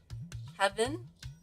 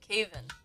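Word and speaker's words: Kavin: Oh, is it Kevin? Calvin? Am I mispronouncing it? Caven? Oh, I think that's it. Caven.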